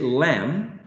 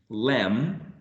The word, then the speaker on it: lamb: When we say lamb, lamb. Exactly. How do you think this word is pronounced?